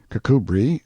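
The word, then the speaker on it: Kirkcudbright: armor, his name and style being the honorable Kirk Cudbright, Lanover Marjgery Banks, Sellers, Vic Count Berkeley of Chalundy Castle, Warwickshshire. Pronounced Cubri Flanover Marshbanks sellers Viccount Barkley of Chumley Castle, Warkshire.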